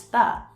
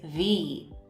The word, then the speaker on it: the: Rule number 1, we pronounce the with a short sound when the comes before a consonant sound.